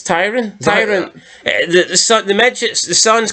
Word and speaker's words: Tyrion: It's Tyrion.